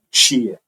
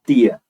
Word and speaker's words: tia: O T dessa palavra, da palavra tia, ele pode ser pronunciado de dois jeitos. Algumas pessoas vão fazer o T e vão colocar uma palatal depois. É um tch, né? Tch, tia, que é o que eu faço. Eu faço isso, tá? E tem gente que vai usar só o T mesmo, que é o tia, tá?